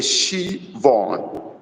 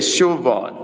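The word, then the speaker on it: Siobhan: you but not hi my name is pronounced okay Shon is Irish okay shivon Shon okay Shon that is the right pronunciation Shon sorry for that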